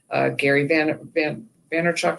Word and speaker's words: Gary Vaynerchuk: Jim Rohn and Gary Vaynerchuk, I think is how he pronounces his name.